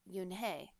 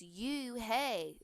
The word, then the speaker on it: Unhei: no no yunhei corrected it's spelled u-n-h-e-i it's pronounced yoon hey oh it's you hey the boy said like